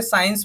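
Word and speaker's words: science: मतलब होता है इत्र इसी तरीके से साइंस में देखिए साइंस में सी को हमें साइलेंट रखना है सी एन सी पढ़ेंगे तब भी साइंस बन जाएगा ये साइंस का मतलब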